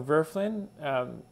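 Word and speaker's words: Wölfflin: problems with this idea of oscillating history so virflin is the o with the ohm block by the way is pronounced more or less like it was an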